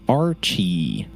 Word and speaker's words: RCH13: Uh, but he prefers everybody just call him Archie.